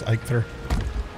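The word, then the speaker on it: Eikthyr: I think that's actually I think you pronounced this ikur I've been calling him an ether but I think it's ikur I think he's been whining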